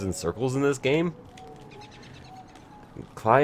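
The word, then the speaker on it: Klei: Cly Entertainment, or Clee Entertainment, as I've sometimes heard them pronounced these days.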